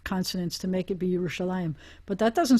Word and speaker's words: Yerushalayim: Because the word is Yerushalayim, and everybody's going to pronounce it that way, and everybody apparently always had.